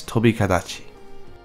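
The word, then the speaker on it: Tobi-Kadachi: Toby hibachi Toby Adachi just say this is one word it's very Japanese Toby Adachi Zizi aku ZZ aku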